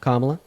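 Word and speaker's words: Kamala: Kamla.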